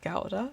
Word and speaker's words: gouda: dutch so first off gouda properly pronounced gauda but probably not is a very good